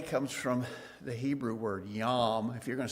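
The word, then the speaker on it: yom: The word day comes from the Hebrew word yam. If you're going to spell it with in English letters be yo m.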